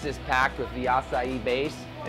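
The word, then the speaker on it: açaí: Acai. That is like probably the most mispronounced word ever. Every time I go somewhere, can I give them a Mackay bowl?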